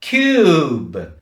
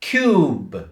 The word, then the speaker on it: cube: 희생 정신을 발휘하고 사라집니다 철자는 있지만 발음 나지 않지요 자 그러면 여러분 어떻게 발음해야 됩니까 큐브 맨끝에 큐는 크게 발음하시는 조금 소리를 줄여서 발음하시면 되겠습니다 다시 큐브 큐브 이렇게 발음하시면 됩니다